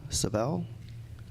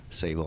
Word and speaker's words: Savell: Next speaker is Savell. Sorry if I didn't get the pronunciation right. Sable. I figured they had two shots at it.